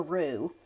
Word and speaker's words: roux: So what you're going to see at this process during this is making a roux, which I've said before, it's spelled R-O-U-X, and it's to make a paste or just a thick mixture.